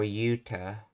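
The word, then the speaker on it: 言うた: Or yuta, as it's pronounced.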